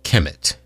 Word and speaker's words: Kemet: Greeks that land was known as Kemet k-e-m-e-t chemit kmt in ancient times and k-e-m-e-t in our modern times that's how we spell it now k-e-m-e-t but back then it was